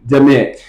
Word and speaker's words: Dimit: No, it's just Dimit. Dimit. Dimit. Dimit. Dimit. Yeah, it's like damn it, except Dimit.